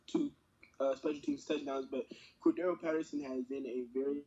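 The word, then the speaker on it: Cordarrelle: Cordero. Cordero.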